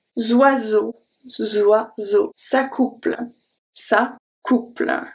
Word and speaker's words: oiseaux: end, besides the X, but we don't pronounce the X. Zoiseau, zoiseau.